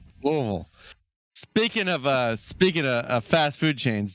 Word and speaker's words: Louisville: Louisvle.